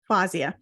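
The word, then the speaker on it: Fawzia: Fazia. Fazia. Okay. Yes. So the W is silent.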